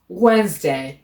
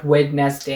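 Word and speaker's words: Wednesday: তারপরে ওয়েনসডে, ওয়েনসডে, নট ওয়েডনেসডে, এভাবে না, ওয়েনসডে।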